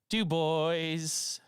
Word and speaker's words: Dubois: D boys. That's how you say it. Dubois.